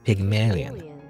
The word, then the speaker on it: Pygmalion: uh it's a play apparently how do you pronounce it though I'm gonna google Pygmalion pygmalia Pygmalion Pygmalion Pygmalion apparently Pygmalion Pygmalion all right I go to translate Google